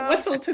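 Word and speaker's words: Weselton: Wesselton! It's pronounced A Wesselton!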